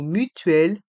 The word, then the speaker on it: mutuelle: la carte de mutuel dans le mot mutuel le tu et le l se prononce ensemble mutuel mutuelle la carte de